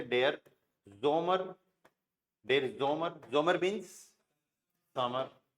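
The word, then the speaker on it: Sommer: जैसे for example simple से dare जोमर, dare जोमर, जोमर means समर।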